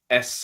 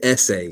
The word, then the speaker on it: Esse: spoke about gayan um s or essay depending on how you pronounce it he he pronounces it essay like okay okay um